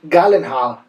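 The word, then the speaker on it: Gyllenhaal: un actor bueno que en realidad se pronuncia Jake galenhaal es un actor excelente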